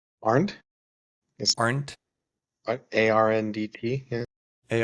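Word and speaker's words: Arndt: Pronounce last name. Aren't yes.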